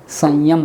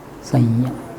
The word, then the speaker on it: संयम: यह के बाद, यह से पहले अगर अनुस्वार है तो उसका उच्चारण, चूंकि यह का उच्चारण स्थान तालु है, इसीलिए यही उच्चरित होगा। इन सभी शब्दों के साथ हम इसे संयम बोलते हैं, संयम।